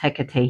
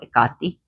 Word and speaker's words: Hecate: Ekati and she's pronounced Hecate here, but in Greek she's called Egati and Nyx.